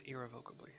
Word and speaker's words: irrevocably: It's irrevocably.